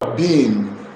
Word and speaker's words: BIM: Have you heard about what the word beam? Have you heard about the word CAD? If you have heard about the word CAD and beam, beam is spelled B-I-M.